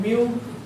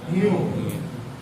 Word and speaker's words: mu: बोलते हैं इसको, माइक्रोन, लेकिन एक ग्रीक वर्ड है तो इसको ग्रीक वर्ड में क्या बोलते हैं, म्यू, वो नहीं बोलेगा, म्यू बोलते हैं, ठीक है ना, बराबर, लिखा है स्पेलिंग MU जरूर, ठीक है।